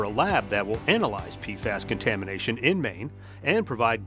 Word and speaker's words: PFAS: PFAS is a good way to pronounce it.